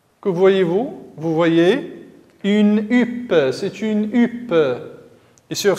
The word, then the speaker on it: huppe: La lettre H, écrite en rouge, ne se prononce pas. Elle est muette.